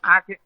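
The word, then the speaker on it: آنکھیں: দেখনে ঠিক আছে এইযে আখে আখে নাকি নাটা উচ্চারণ হবে না আখে না বানানের লেখার সময় লিখতে হবে তাইতো হ্যাঁ লেখার সময়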